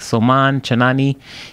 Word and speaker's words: Soman Chainani: from the children's author I believe you pronounce his name like soman chainani he writes the school